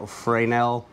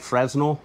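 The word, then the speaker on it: Fresnel: the lights this right here explains how the frel lens is it looks like fresnal but it's actually pronounced frel um how it would take the light and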